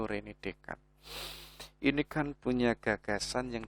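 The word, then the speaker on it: René Descartes: filsuf yang namanya itu Rene dekat jadi tulisannya itu Rene Descartes tapi membacanya ya itu Ren dekat ini kan punya gagasan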